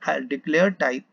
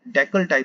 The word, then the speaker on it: decltype: तो इस तरह से ये डिक्लेयर टाइप, डेकल टाइप sorry, जिसको हम डिक्लेयर टाइप भी बोलते हैं, तो ये हमारे साथ